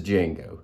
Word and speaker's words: Django: aloof but this is Django the D is silent Sam the Pearl Bower